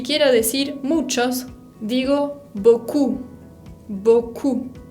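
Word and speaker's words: beaucoup: decir muchos digo bocoum boku con la p final que no se pronuncia se acuerda book sí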